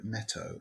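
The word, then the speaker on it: Neto: work with net called Ernesto Netto and I think it's pronounced right NE t o and uh the Nets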